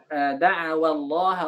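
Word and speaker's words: دعوا: Jadi ketika kita baca da'awallaha rabbahuma, tidak perlu menekan waw itu.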